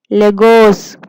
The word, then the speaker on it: Lagos: लगोस. Pronounce it with me.